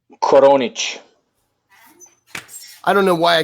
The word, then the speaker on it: Koronic: okay how do you say your last name konic I don't know why I couldn't have yeah